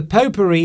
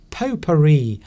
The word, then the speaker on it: potpourri: that was a real potpourri of musical styles. So it just means a mixture, a very different mixture of things. It's interesting how they call it, how the P-O-T, pot, is actually pronounced po, because I think that